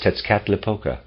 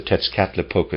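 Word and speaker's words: Tezcatlipoca: of tetsuka i'm gonna i don't know how to pronounce that it's spelled in here t-e-z c-a-t l-i-p-o-c-a tits cap la the teachings of tetzkatlipoca soon escaped from the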